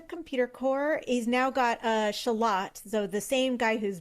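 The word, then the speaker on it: Shalott: This man's name is Shallot. Shallot. Like the small onion, Shallot. Well, it's Shallot. Okay. Some people say Shallot. Really? I suppose you could.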